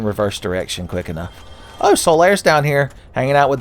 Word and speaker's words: Solaire: That's why his name is Solaire. It rhymes with laid bare.